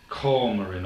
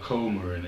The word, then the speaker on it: coumarin: That's spelled C-A-S-S-I-A. And that's said to contain coumarin or coumarin.